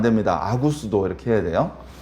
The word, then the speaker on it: 아구스도: 아우구스투스를 왜 아구스토라고 쓰냐면요, 성경에서는 발음을 세게 하면 안 돼요. 발음 야하게. 피터 아니고 베드로고요. 아우구스투스 안 됩니다. 아구스도 이렇게 해야 돼요.